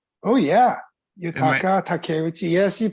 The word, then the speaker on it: Yutaka Takeuchi: Yutaka Takeuchi. Oh yeah, Am I Yutaka Takeuchi. Yes, you pronounce it Takeuchi?